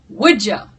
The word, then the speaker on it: wudja: So instead of kudja, you say wudja. Wudja. Here, this is pronounced j.